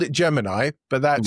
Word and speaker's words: Gemini: Yes, NASA back in the day, the pronunciation was Gemini with a long E.